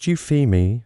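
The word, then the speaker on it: Euphemie: In 2003, a team of astronomers led by Scott Shepard discovered a small faint moon orbiting Jupiter, they named it Eupam, pronounced Euphemi after a minor Greek goddess associated with good omens and praise.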